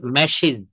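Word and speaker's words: matches: হ্যাঁ, তারপর হচ্ছে ম্যাচ, আছে ম্যাশিজ, ম্যাশিজ।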